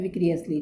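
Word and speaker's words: vicariously: तो उसकी जो प्रोनाउंसिएशन है ये है विक्रियसली, ठीक है, विक्रियसली है यहाँ पे इसकी प्रोनाउंसिएशन।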